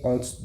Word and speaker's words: honte: If I want to say I am ashamed of him, to be j'ai honte de lui. Say honte, the H is silent.